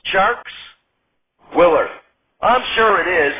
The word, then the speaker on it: Tjarks: a basketball expert Jonathan t-jarks to talk some basketball before we get to the Bears Farley dammit Willard are you there Mr t-jarks over the speakerphone Jonathan shark says it's actually pronounced sharks Willard I'm sure it